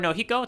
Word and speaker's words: Nojiko: All right, Nojiko or Nohiko, depending if you're doing that for the J. Yeah, if you're doing the Spanish pronunciation of her name.